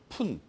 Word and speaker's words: 푼: 한 가지 조심할 거 여기 읽을 때 오분이라고 안 읽습니다. 오푼이라고 읽는 거예요. 알겠어요? 푼. 중국어 발음은 펀인데 광동어에서 먼저 들어갔습니다. 이게 펀. 퍼센티지를 음차한 겁니다. 중국어에서. 알겠습니까? 그래가지고 5푼, 6푼 이렇게 읽습니다.